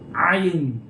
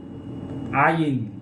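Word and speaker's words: עין: Jadi sama dengan Arab. Ayin. Ini juga ayin. Nah, gitu. Jadi agak ribet ya. Bunyi tekak. Ayin.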